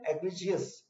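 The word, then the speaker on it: egregious: It represent N एग्रीजियस. इसके pronunciation पे ध्यान दीजिएगा, एग्रीजियस है प्रोनाउंसिएशन.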